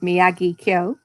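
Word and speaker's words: Miyagikyo: the end so um if you can't remember how to say it just think of um karate kid mr miyagi um if you start off with miyagi kyo then you'll you'll fall into it i think if you try and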